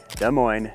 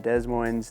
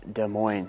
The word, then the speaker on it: Des Moines: the mo in case you're curious it is pronounced de Mo not Des Moes not Des Moz it is De Moine so that's your first lesson do not make